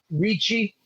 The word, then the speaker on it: Ricci: Ricci, like the actress, like Christina.